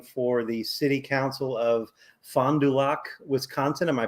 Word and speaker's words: Fond du Lac: awesome candidate running for the city council of fond du lac wisconsin am i pronouncing that correctly pretty close uh wisconsin that up for you a little bit it's fond du lac black lack yeah cool all right fondulac um